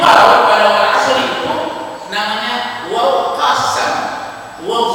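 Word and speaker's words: والعصر: pada surat walari nah Wal Asri tidak boleh bacanya Wal asru Kenapa dibacanya Wal asr karena wau di sana itu namanya wau qasab qasam itu artinya sumpah walqasri Tuhan bersumpah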